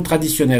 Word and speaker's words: traditionnelle: La disposition traditionnelle, attention à traditionnelle, même prononciation pour le masculin et le féminin, mais ici le déterminant là vous indique très clairement le genre de disposition.